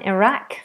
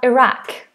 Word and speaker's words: Iraq: I definitely have heard this pronounced differently by Americans. Let me just check the standard American. Iraq. Iraq. Iraq. Iraq. Yeah. Same. Iraq or Iraq. For American for American English.